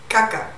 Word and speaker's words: kakak: KAKAK / KAKÁ In Indonesian, kakak is "older brother / sister". And that K at the end is usually not pronounced.